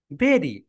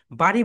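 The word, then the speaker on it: bury: বেরি, বাংলাদেশিরা আমরা সবাই এটাকে বাড়ি বলি, কিন্তু এটা রাইট প্রোনাউন্সিয়েশন হবে বেরি।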